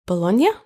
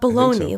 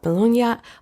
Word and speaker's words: Bologna: at the University of Bologna is that how you pronounce Bologna Italy it's not baloney like bologna it's not like that right in Italian you pronounce every letter yeah so did you